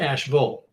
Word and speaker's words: Asheville: from North Carolina that it is pronounced Asheville. Now it's spelled Asheville, but it's pronounced Asheville. So when you hear me say Asheville, I'm trying to make sure I say it the way the North Carolinians would say it.